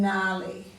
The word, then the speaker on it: gnarly: we're going on to the silent G in sign design assigned NAT Nome and gnarly so you've already looked these